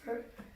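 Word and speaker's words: phở: Vous pouvez penser que ça se dit faux, mais ça se prononce pho.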